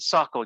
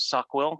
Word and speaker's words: SOQL: soccer and do you i pronounce it sockle you pronounce it sockwill i i would defer to your pronunciation i i've heard both i know people that say sockle to me like sequel where i pronounce the q so sock will i pronounce the q there as well gotcha but i i